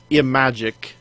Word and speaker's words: Imagic: Or if you're looking for another way to pronounce it, Imagic. Yeah, just take the word magic and put an I in front of it.